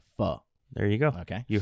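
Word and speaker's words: phở: some people say pho. No. But if Say I can make pho. the correction here on this podcast and let everybody know that it is pronounced pho.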